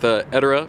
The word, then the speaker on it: Edorra: That's how you pronounce Edorra? it. Yeah. It's Edorra. That's Edorra. All right.